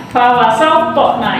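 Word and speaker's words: فَوَسَطْنَ: Nah, kemudian pengucapan qalqalah tadi ya, pengucapan qalqalah fawasatna itu pantul.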